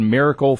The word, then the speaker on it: Mirrorcle: saying it Miracle frames we just pronounce it Miracle frames but that is the